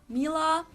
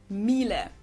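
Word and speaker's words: Miele: Mila. Um, so it usually sounds more like an A in the end, whereas in German we say mille mil. So the last letter is just a little bit different.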